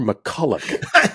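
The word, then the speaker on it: MacCulloch: it tmac is here do you say his name McCullough or McCulloch that's right um you touched on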